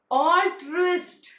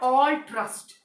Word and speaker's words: altruist: Altruist. Altruist, not altruist. Altruist, not all trust. It's wrong. I is inserted in between.